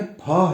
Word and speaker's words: फ: यह फ है। फ नहीं। असल में हिंदी भाषा में मूल रूप से फ की ध्वनि होती ही नहीं। हिंदी वर्णमाला में ये जो वर्ण है इसका उच्चारण फ है।